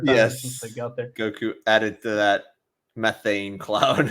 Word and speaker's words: Goku: Goku confirms this because he didn't believe glorio I guess he can't even say his name right it's Goku so he needed to